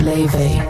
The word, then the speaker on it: La: La being John's daughter, known simply as La, pronounced Lee, took the stage and suddenly it was 1955 and 2025 all at once.